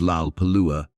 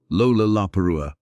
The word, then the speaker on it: Lollapalooza: An American slang term meaning something outstanding or extraordinary, it contains 4 L sounds in rapid succession at the beginning of syllables. Lollapalooza.